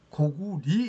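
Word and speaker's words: 고구려: 말씀을 드렸습니다에 지금 어 주몽의 나라는 고리로 발음을 해 달라고 말씀을 드렸습니다 오늘이 시간도 똑같은 말씀을 드리겠습니다 주몽의 나라는 고구리 있니다 그게에 단서에도 리로 불어 어 읽어라 그리고 전편에도 국호로 할 때는 어 나라 니로 읽어라 이렇게 돼 있기 때문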